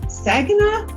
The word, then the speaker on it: Saginaw: So I've invited Amber Perrin, who is an ESL from Saginaw. Is that how you pronounce it, Amber?